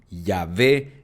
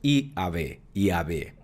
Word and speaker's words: Yahvé: La pronunciación exacta del tetragramatón no está totalmente segura. Algunos pronuncian Yahweh, otros Yahweh y otros Yahvé y otros Yahvé.